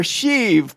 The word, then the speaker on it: Sheev: also with the force we're talking about emperor sheev Palpatine burnt indirect but it's pronounced she ev she you could just call